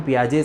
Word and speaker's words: Piaget: से शुरू करेंगे कि प्याज जो है कौन है कहां से है और क्या बातें करते हैं के लिए पियाजे का नाम है जिसमें लास्ट कर छुट्टी है तो वह साइलेंट है कि आपको याद